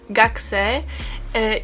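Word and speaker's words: 学生: I teraz podam Wam taką ciekawostkę, ponieważ od słowa gakko jest słowo uczeń, który się wymawia gaksei i pisze się też podobnie, także to tak przy okazji.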